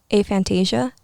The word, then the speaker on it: aphantasia: Have you guys ever heard of I believe it's pronounced aphantasia?